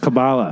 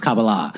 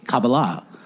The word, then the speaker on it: Kabbalah: on the east side I think it's pronounced Kabbalah no that's the way the Americans pronounce it but it's Kabbalah who misses Kabbalah the Kabbalists so no it's like Cabo I like when you're